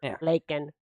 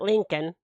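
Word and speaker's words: Laken: her name you know leak Riley not Lincoln yeah Lincoln Riley the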